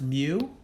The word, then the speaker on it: mu: symbol the symbol looks like this so it's pronounced mu and this is the population mean in other